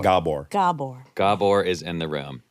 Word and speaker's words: Gabor: saying his name right it's hard G gor Gabor gor is in the